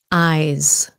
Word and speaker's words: eyes: of course your eyes eyes sounds like a z at the end eyes my eyes feel dry